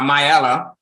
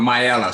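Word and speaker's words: Miaelle: twin and a family her name is uh myella you gotta pray for me because I I tried to get my daughter to name her a simple name but she went with myella so it's spelled m-i-a-e-l-l-e uh my daughter's middle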